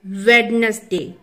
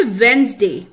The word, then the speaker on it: Wednesday: First word है वेडनेसडे। ये वेडनेसडे नहीं होता, ये होता है वेंसडे, वेंसडे, वेंसडे।